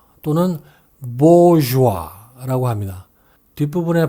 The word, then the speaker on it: bourgeois: 이 말은 S도 발음이 되지 않는 데다가 중간에 G마저 우리말에는 없는 발음이기 때문에 난이도가 높은 편입니다. 우리말로는 부르조아라고 하지만 영어로는 bourgeois 또는 bourgeois라고 합니다.